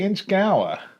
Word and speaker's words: Inchgower: Is that Inchgower or Inchgower? I have to say Inchgower.